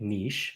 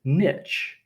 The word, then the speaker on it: niche: So the earliest English dictionary says you pronounce it niche. And it wasn't until decades later that they said you can also pronounce it niche.